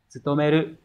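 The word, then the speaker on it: 務める: Như vậy chữ vụ sẽ đọc là tsutomeru.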